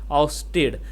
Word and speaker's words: ousted: The OU sounds like the OU in house and mouse. It is this which has the stress, so it is ousted.